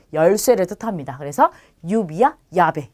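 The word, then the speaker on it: llave: 원래는 아인데 엘레가 두 번 왔기 때문에 아를 이중 모음으로 바꿔서 야베라고 하는 거예요. 얘는 열쇠를 뜻합니다. 그래서 유비야, 야베 요 두 개는 잘 기억해 두시고요.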